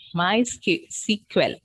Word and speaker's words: MySQL: MySQL, that's the pronunciation.